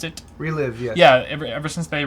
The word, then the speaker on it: ReLive: Ever since AMD rolled out their Relive, is that how you pronounce it? Relive, yes.